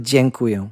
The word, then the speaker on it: dziękuję: It starts with dziękuję. Dziękuję. That's Yes.